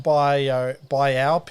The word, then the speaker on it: biopic: If the first element has more than one syllable, the stress still doesn't get shifted anyway.